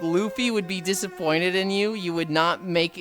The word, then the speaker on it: Luffy: It is pronounced Luffy. It is a hard U sound.